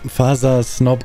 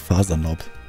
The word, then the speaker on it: Fasersnob: Aber Fasersnob, keiner ist so blöd und sagt Fasernob. Ich habe das S nie gesehen.